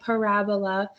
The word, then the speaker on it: parabola: That's how you say it, parabola.